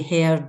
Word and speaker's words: Hird: Am I pronouncing it correct? Hird? Yes, Hird.